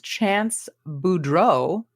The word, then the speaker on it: Boudreaux: The other one was as Chance Boudreaux. This one was also like a EAUX too. Blanche Devereaux. Yeah. It's the same pronunciation.